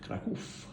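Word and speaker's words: Kraków: So this is the NextDoor Apartments in Krakow, although I'm reliably informed it's pronounced Krakow.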